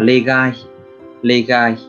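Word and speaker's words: 例外: Cách đọc của nó là legai.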